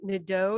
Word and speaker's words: Nedeau: Am I saying Nedeau? Is that how you say it? Yeah, you nailed it.